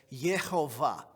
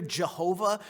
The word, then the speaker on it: Jehovah: so if you hear Jehovah right it's kind of an English version of Yahweh so if somebody says